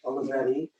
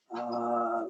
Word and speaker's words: Olivetti: How do you pronounce it? Olivetti. Olivetti.